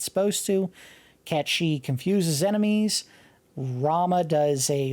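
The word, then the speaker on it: Cait Sith: Obtained Ket She. It's not pronounced Kate Sith. That is actually a Celtic god figure, I believe. And it's pronounced Ket She.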